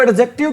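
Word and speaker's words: adjective: एक बात बताओ, इसको एडजेक्टिव क्यों नहीं बोलते हैं? जहां पर भी कौन सा वर्ड आ जाए भी? डीजे वर्ड इकट्ठा आ जाए तो डी की साउंड क्या होती है? साइलेंट होती है।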